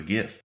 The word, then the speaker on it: GIF: that lets you convert almost anything into a gift even live photos now I realize this